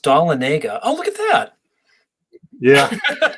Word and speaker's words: Dahlonega: city in northern Georgia some people say it's pronounced de la gana it's really pronounced dalla Nega oh look at that yeah you know that's